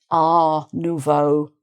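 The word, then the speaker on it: art nouveau: But because we have neuvo going with it, which means new a nuvo, people might tend to leave off the the t sound.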